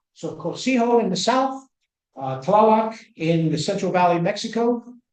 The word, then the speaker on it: Tlaloc: Tlaloc, if you say it correctly, I might scare you guys, but it sounds like a thunderclap.